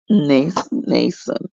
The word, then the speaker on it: Mnason: And guys, that is spelled with an M, then N, Mnason. Nason. I'm just going to leave that M silent.